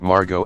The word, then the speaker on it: Margot: There's a story about Margot Asquith, a British socialite and author, meeting Jean Harlow and correcting Harlow's mispronunciation of her first name. No. The T is silent.